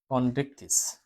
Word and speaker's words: কন্ড্রিকটিস: ঠিক আছে, এবার শ্রেণী 2, শ্রেণী 2 কন্ড্রিকটিস, কন্ড্রিকটিস, কন্ড্রিকটিস মানে কি CHON, কন, তারপর ড্রিক।